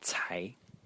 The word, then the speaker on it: 才: Title Character over here which is pronounced Tai Ty and the second tone and Tai uh today